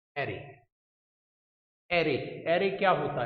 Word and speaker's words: array: एरे बोलते हैं इसको, अरे भी बोल देते हैं कुछ लोग। Can pronounce it वे you want, but इट्स नॉट द अरे भाई क्या हाल है।